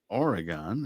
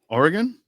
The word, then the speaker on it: Oregon: Salem, Oregon, and he was in Weeds, How did you pronounce my state? Oregon. Yeah, there you go. You said Oregon. Oregon, yes, East Coasters always do that. Oregon. It's like a gun.